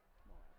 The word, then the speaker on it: Marr: That's how you say his name. Marr.